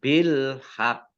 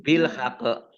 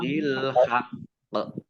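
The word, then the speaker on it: بالحق: Nah, kemudian di sini qafnya ada tasdidnya, maka dibaca double. Kemudian qaf berikutnya sukun ya, karena waqaf, maka dikolkolahkan. Oleh karenanya maka bacanya ditekan dulu ya, qafnya double, bil haq. Jangan bil haqq, tapi ditekan dulu bil haqq.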